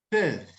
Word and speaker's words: peuvent: Vai falar o sonzinho de P com leve biquinho e vai pronunciar até o V. Peuvent.